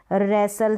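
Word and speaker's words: wrestle: S कैसे पढ़ा जाएगा, जैसे कासल है, कासल है, T यहाँ पर साउंड, T जो है ना यहाँ पर साइलेंट है, S है T से पहले वहाँ पर। जैसे ये बसल है, रैसल है, विसल है, हसल है, T का साउंड नहीं आ रहा है, T का यानी ट को हम प्रोनाउंस नहीं कर रहे हैं T के लिए।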